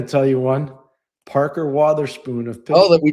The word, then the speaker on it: Wotherspoon: Parker he was like Wotherspoon. Nobody even knows his name. They don't even know how to say his name because I've heard people say, "Oh, Parker Weatherspoon." No, it's Wotherspoon.